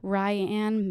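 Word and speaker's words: Rianne: oh she's she's uh ryan mayhere is that how you say it yeah where she's from this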